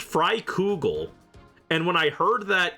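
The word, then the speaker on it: Freikugel: on how it's pronounced I thought it was pronounced fugel which sounds way cooler but no it's pronounced fry cougal and when I heard that in game I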